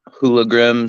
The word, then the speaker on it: HooliGrim: On Twitter at HooliGrim, spelled WHO, like who are you? Because people seem to not know how to pronounce it right away.